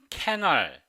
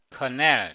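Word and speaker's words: colonel: 엉터리 발음을 많이 사용하는데요 이 단어를 천 오랫동안 캐널 이렇게 발음 해주세요 근데 이 발음이 캘러리 아니고 근데요 근데요 커넬 이렇게 발음해야 되요 그 다음에 이것은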